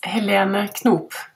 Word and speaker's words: Helene Knoop: could you please pronounce your name correctly for me it's Helena cop now I found you because you were a